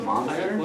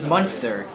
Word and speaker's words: Munster: I mean, is it not pronounced monster? It's Munster. Oh, okay, that's basically monster with a U.